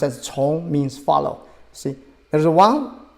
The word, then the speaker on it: 从: It's pronounced as 从 means follow.